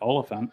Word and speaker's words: Olyphant: It's just elephant, but Oliphant.